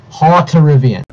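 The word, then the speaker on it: Hauterivian: Let me correct you in that pronunciation. Haubitarian.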